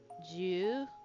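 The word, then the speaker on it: じゅう: So 10 is ju with an extended u, okay?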